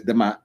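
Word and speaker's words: D'mt: century BC a kingdom known as demit pronounced as demat rose in the northern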